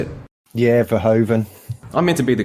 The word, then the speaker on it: Verhoeven: Yeah, Verhoeven.